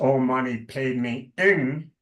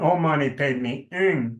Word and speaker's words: Om Mani Padme Hum: Om Mani Padme Hum, which is to be pronounced Om Mani Padme Ing, H-U-N-G, as the sound. And Om Mani Padme Ing is you are the jewel in the lotus.